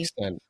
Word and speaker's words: Xtend: Extend.